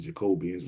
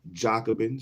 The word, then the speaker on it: Jacobin: the black jockin the black joobin I said jacobians but I know I pronounce it Jacobin is how it's pronounced the Black jockin by